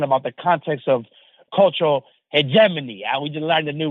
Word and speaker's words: hegemony: the context of cultural hegemony. We just learned a new word because before I used to pronounce it as he get money, but it's not too different, right?